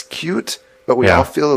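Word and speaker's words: Qt: was hoping to promote pronouncing cute the right way which he phonetically spelled out as cute I'm reading that the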